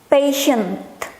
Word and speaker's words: patient: Yang ini jangan lupa ada T di belakangnya, patient. Nah, kan dibacanya sebagai sh.